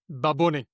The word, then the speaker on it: Bad Bunny: Say it properly. Baboni. Baboni. Baboni. Yes. And Nicole Holidayiday on TikTok has done an excellent job of explaining why Puerto Rican speakers say it that way.